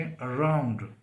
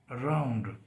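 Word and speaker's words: around: तरह से आप देखें अराउंड अराउंड तो इस पर जो स्ट्रेस है वो आर पे है ए आर ओ यू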